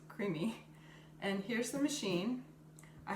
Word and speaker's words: CREAMi: I'm sorry, I said iCreamy, but it's just creamy.